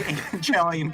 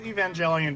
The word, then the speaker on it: Evangelion: dear i feel like evangelion's probably the right way to say it but i'm not going to say it that way i think it's evangelion because it like evangelist i think they're the same root word i'm still going to